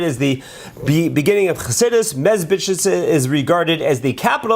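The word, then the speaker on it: Medzhybizh: the town of Mezbitchitz, or Mezbitchitz is one of those words that's always hard for us to pronounce, but Mezbitch, as a lot of people call it.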